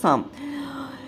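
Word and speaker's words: psalm: করে রাখা হতো N syllable of a certain সাম দেখো এখানে কিন্তু পি টা আর এল টা কিন্তু উজ্জ্ব থাকবে ঠিক আছে উচ্চারণটা হবে সাম আর সিলেবল মানে হচ্ছে অংশ আর সাম মানে কিন্তু এখানে শত্রু কলড দা ভয়েস অফ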